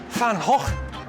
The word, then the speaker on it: Van Gogh: It's actually pronounced Van Gogh. Okay, Van Gogh.